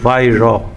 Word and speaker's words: Weihrauch: যেহেতু জার্মানি উচ্চারণ সেজন্য মানে লেখার সাথে আপনি উচ্চারণ ঠিকমত করতে পারবেন না। এটাকে ওয়াইরাক অনেকে বলছে নিজের মনে মনে। আসলে এটা উচ্চারণ নয়। এটা হচ্ছে ভাইর উচ্চারণ উচ্চারণে যাই আসে